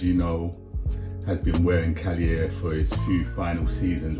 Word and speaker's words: Kaliaaer: um a premier goalkeeping struggles to pronounce cier but hey that's how you pronounce it Kenny off and Greg